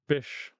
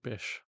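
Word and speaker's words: Bysshe: It's pronounced Bish, I think.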